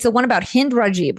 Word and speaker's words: Hind Rajab: But let's talk about this film because you're telling, it's the one about Hind Rajib, right? Is that how you say her name? Hind Rajab, yes.